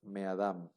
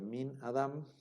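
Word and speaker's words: מֵאָדָם: Entonces ahora se lee meadam. En una sola palabra, meadam, en lugar de min adam, desde Adam o desde Adán, ahora queda meadam.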